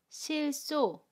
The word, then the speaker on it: 싫소: '싫소' The double final consonants 'ㅀ' meets the initial consonant ‘ㅅ.’ It is pronounced as .